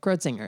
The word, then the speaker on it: Grotzinger: which is James, who Grotzinger. I always feel like I'm saying his name wrong, but I'm 100,000% sure that's how you say it. Grotzinger.